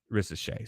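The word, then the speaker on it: Risacher: ret now or R I know the r is silent he's French okay and and the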